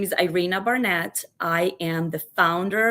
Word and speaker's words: Iryna: Iryna, thank you. I keep wanting to say, I was going to say Irene. I'm like, no, it's not Irene. It's something else.